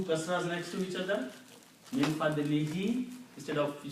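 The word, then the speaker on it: مِنْ فَضْلِهِ: If you pronounce two kasras next to each other, min fadlihi instead of you say fadli hu. Okay. So min fadlihi, by His grace, by His mercy.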